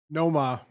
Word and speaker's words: Nomar: Noma.